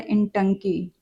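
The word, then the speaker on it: Intanki: इसको प्रोनाउंस किया जाता है इंटकी।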